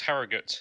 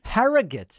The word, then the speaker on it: Harrogate: next to evan from herrera is it pronounced harrogate in the united kingdom hello david can you hear me okay yeah i can hear you fantastic it's pronounced harrogate actually harrogate i like it um yeah so i just